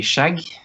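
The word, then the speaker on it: skjegg: beard in Norwegian uh quite a normal pronunciation would be shag like shag and then can like shag yeah pretty much like shag but you have to to probably shorten the g a bit Shag mhm shag yeah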